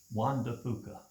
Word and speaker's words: Juan de Fuca: How do you pronounce Juan de Fuca? Juan de Fuca, There we go.